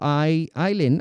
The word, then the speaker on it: Eileen: Ali, my actual name is Eileen. So your first pronunciation was accidentally correct.